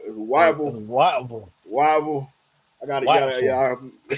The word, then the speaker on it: Whiteville: Whiteville? Yeah, yeah. Well, Whiteville. I don't think I said it right. It's Wyville.